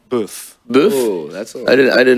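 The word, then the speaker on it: boeuf: Beef is spelled the French way, B-O-E-U-F. Oh. Boof.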